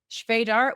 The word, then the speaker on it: Svejdar: final speaker now in this section is Vadar which she reminded me is RM rhymes with Vader as an Darth Vader which really